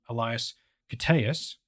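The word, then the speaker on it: Elias Koteas: the flip side he's got the very human Elias cus and that's how you pronounce his name should you ever you know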